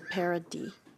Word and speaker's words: Paradis: And I apologize, I believe the correct pronunciation of the name is minutes -- former minister Paradis.